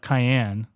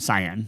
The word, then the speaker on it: cyan: Okay, so we have cayenne. Is that how you say it? Cyan. Cyan. Yeah. Cyan. Cayenne pepper. Cayenne pepper? Yeah. Cyan is green and blue.